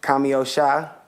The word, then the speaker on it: Kami Osha: what's up to the people it was good cameo Shah make sure y'all pronounce that right for the V dig and